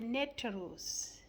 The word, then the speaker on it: Neter: There was something about the Neterus. Yes, the Neterus. The Neterus is is the net ru is spelled by n e t e r u.